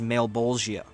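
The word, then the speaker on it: Malebolgia: It's, dude, I had to look up the pronunciation. His name is Malbolgia, which I thought was super funny, but I love the name.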